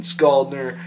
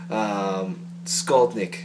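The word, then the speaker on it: Skolnick: Fucking Alex fucking Skaldner, he can shred his fucking balls off, man. Skaldnik, sorry. Pronounced that wrong.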